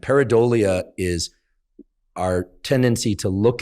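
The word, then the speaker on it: pareidolia: this phenomenon um that I don't want to mispronounce cuz because then it sounds like something else but the correct pronunciation is peridia and paradia is our tendency to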